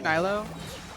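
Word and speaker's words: Nilou: Opinion on, I don't know how to say her name, Nilo?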